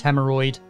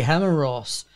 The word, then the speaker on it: Hemeros: "Find the Lord of Air and his conflux, Hemeroid," I ordered. Lord, I'm afraid you've mispronouncing my name. It's supposed to be Hemeros," the mage instructor said.